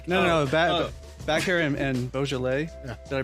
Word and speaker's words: Beaujolais: good band name no no back hair and beaujolais yeah did i pronounce that right now yes you know i've